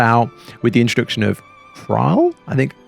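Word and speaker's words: Ysayle: with the introduction of trial i think trial i think is how it's pronounced who is a really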